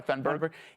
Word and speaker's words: Thunberg: Am I pronouncing it right? Yeah, you are, Thunberg.